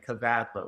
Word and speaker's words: Kavadlo: My last name, Kavalo. It's spelled K A V A D L O.